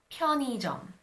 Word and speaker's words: 편의점: However, when the 의 is not the first syllable of a word, then it is pronounced as e. For example, 편의점 would be pronounced as 편의점.